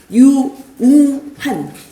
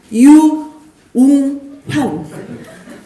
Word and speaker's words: 유웅환: 마스크를 한 번만 벗고 발음을 해드릴게요. 유웅환. 유웅환.